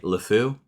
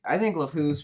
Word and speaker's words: LeFou: LeFou? yeah, LeFou.